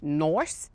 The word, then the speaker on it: Noice: Kim, I don't mean to be rude, but it's actually pronounced Noice. Nice? Noice. Noice. N-I-C-E, Noice. Noice. Noice. Like ice.